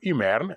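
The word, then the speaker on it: Imerina: habite les populations mernes qu'on appelle l'imerne ou imerne hein qui s'écrit im e r i n a ou e m y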